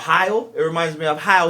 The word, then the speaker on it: Heil: the other company that Bobby Lee uses called Heil. It reminds me of Heil Hitler. I don't want to, every time I look at the fucking That's microphone, it says Heil. H-E-I-L. Yeah. H-E-I-L? Mhm. Hail.